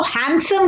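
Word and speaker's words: handsome: हैंड side नहीं बोलते हम इसको हैंडसम कहते हैं जिसमें ब़डी साइलेंट है और यह इन के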